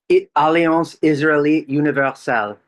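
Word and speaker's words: Alliance Israélite Universelle: Uh Alian Israeli universal.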